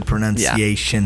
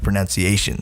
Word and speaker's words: pronunciation: But I think it's because people say pronunciation, but it's pronunciation. Pronunciation, yeah. Enunciate. There's no O there.